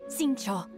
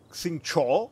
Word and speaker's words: Xingqiu: Intanto però dobbiamo cercare Xingqiu, a quanto pare il Qiu si pronuncia Cho, quindi ripeto, i nomi